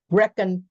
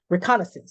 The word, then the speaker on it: reconnaissance: Reconnaissance. I know I'm pronouncing that wrong. Reconnaissance.